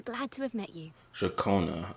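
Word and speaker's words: Ciaccona: Jacona. Okay, that's how you pronounce her name. Jakona.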